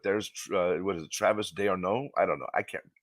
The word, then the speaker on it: d'Arnaud: In the top of the fourth inning, catcher Travis d'Arnaud, thank you for saying it right, blasted a